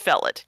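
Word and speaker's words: Featherilstead: And then there was spelled f e a t h e r i l s t e a d pronounced fellet.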